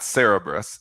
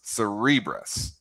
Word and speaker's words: Cerebras: Well, Cere- the the big one tonight and uh CNBC says it's not Cerebrus, it's Cerebras.